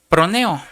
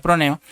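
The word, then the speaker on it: φρονέω: Usted lo puede buscar G2426 que se pronuncia proneo. Es una palabra griega que se pronuncia proneo.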